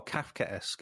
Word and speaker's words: Kafkaesque: Oh, Kafkaesque is how you pronounce it.